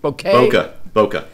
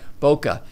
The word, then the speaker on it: bokeh: How do you pronounce that? Bokeh? Bokeh. It's Japanese.